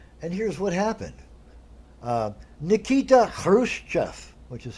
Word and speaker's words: Khrushchev: whatever I want and here's what happened Nikita Khrushchev which is how you say his name everybody says Khrushchev because the Russian X ha ha some people